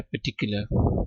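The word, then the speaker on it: particular: अच्छा, इसमें भी आर साइलेंट मैंने पढ़ा है, पर्टिकुलर, ठीक है? ब्रिटिश एक्सेंट की मैं बात करता हूँ जब भी बात होती है।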